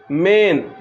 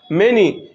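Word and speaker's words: many: সেটা একটা এক্সাম্পল দিচ্ছি মেনি এই যে শব্দটা দেখতে পাচ্ছ মেনি এম এ এন ওয়াই মেনি তো এখানে যে এ রয়েছে এখানে এই এও উচ্চারণ হচ্ছে এ কার হিসেবে ঠিক আছে দেখতে পাচ্ছ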